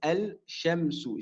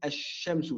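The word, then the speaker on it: الشمس: Ici, le lem de l'article, on ne le prononcera pas. On dira mathalan ash-shamsu. Donc ici, je n'ai pas prononcé le lem. Je n'ai pas dit al-shamsu. J'ai dit ash-shamsu. Je suis passé au shin directement.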